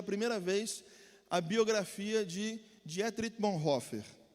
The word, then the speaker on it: Dietrich Bonhoeffer: Aí eu aprendi que em alemão a pronúncia é Dietrich Bonhoeffer.